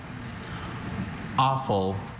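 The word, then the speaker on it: offal: Awful. Also, awful. This word is a homonym.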